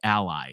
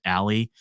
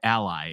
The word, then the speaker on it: ALLi: and we go by Ally so sometimes people pronounce it Ali we go by Ally and the reason we